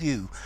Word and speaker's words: Llew: Now, the title is The Wife of Llew. Now, the reason I pronounce this Llew, we've got Llewellyn, for example, which is a Welsh name.